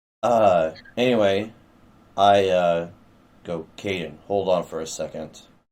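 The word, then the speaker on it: Kaiden: a dash in there k-a-i-d-e-n -k din well I always had dashes for pronunciation reasons good uh anyway I uh go Caden hold on for a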